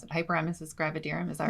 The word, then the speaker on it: hyperemesis gravidarum: call as I don't even know how you pronounce it, hyperemesis gravidarum.